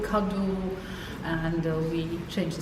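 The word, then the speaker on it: Kaddo: We put the accent on the first syllable, like not cadeau, but cadeau, and we change the spelling, and we add sometimes like for the verbs proposer, proposeren, Okay.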